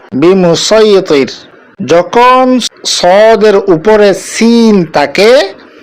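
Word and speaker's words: بمصيطر: সূরা আল গাশিয়াহ ২২ নম্বর আয়াতে যেটা আছে লাস্তা আলাইহিম বিমুসাইতির, এখানেও আমরা সদ দিয়ে উচ্চারণ করব বিমুসাইতির।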